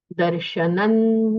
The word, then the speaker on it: दर्शनं: उस वर्ग में नकार है, त थ द ध न, नकार है, तो अनुस्वार का उच्चारण नकार जैसे होना चाहिए। ये आपको ध्यान में रखना है। दर्शनं देवदेवस्य, दर्शनं पापनाशनम, दर्शनं स्वर्गसोपानम, दर्शनम मोक्ष साधनम।